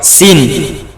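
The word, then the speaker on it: سين: তো জীবের আগা আর মদের গোড়া আর এরপর সিন সিন পাতলা এই যে তিন আলিফ টান সিন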